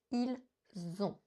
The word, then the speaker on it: ils ont: Donc ici, ils ont acheté est la bonne forme prononcée avec la liaison ils ont.